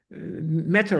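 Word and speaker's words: Mater: like that he uh his company's name is called matter matter like matter m a t e r matter bio and his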